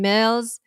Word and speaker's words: Mills: my name is Mills it rhymes with bills you know the one the dollar dollar bills okay we have been